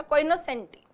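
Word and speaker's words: cognoscenti: इसका प्रोनाउंसिएशन यही है, जी नहीं बोला जा रहा, कोइनोसेंटी।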